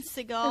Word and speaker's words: Segel: It starred Josh Radnor as Ted Mosby, how do you say his name? Jason Segel? Jason Segel. It's like a bird.